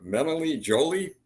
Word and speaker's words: Melanie Joly: Now, about those letters, Tanner, your Foreign Affairs Minister, Melanie Joly.